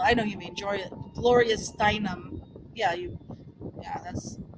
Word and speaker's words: Steinem: I know you mean Gloria Steinem. Yeah, that's how you pronounce it.